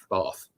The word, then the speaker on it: Bath: Bath. Not Bath, or Bath, or however else it's pronounced. No. We can never get it right, can we? Bath. That's what it is.